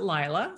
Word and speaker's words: Laila: of work layla great i actually pronounced it lila so uh our it